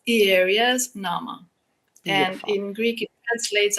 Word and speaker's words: Ierias Nama: are you Donna I'm very here want to pronounce the name of your company correctly and I want to say it's IRAs Nama but I know that you'll say it much